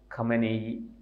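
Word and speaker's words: خامنه‌ای: അതിൻ്റെ അവസാന വാക്കാണ് ഈ അയത്തുള്ള ഖമനേയി അല്ലെങ്കിൽ ഖമൈനി എന്നൊക്കെയാണ് അദ്ദേഹത്തിൻ്റെ. അത് ഈ ഉച്ചാരണത്തിൽ ചില വ്യത്യാസങ്ങളൊക്കെ പലരും പല രീതിയിലാണ് ഉച്ചരിക്കുന്നത്.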